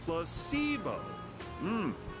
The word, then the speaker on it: placebo: today repeat after me placeo the stress is on the middle syllable very good your figing